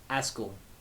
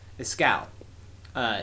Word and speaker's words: Escal: Yeah, and now that he has it on his finger, you can see everything around Askel. Or Escal? I'm pretty sure I've been saying it wrong this entire time. Escal.